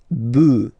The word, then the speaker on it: bœufs: this S, but then pronunciation changes quite much because you get des bœufs, all right, un bœuf, des bœufs, all right.